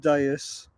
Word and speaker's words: Deus: It's pronounced Deus, Oh, Deus. Okay. and it is French.